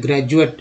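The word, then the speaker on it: graduate: टी ई, ग्रेजुएट में, ग्रेजुएट में डी को ज उच्चारण होता है ना।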